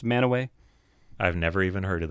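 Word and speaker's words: Mantua: know spelled Mana what spelled Mana pronounced manway I've never even heard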